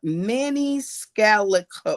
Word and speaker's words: Maniscalco: And um and it's a Manny Scallico. Scallico, that's how you say it.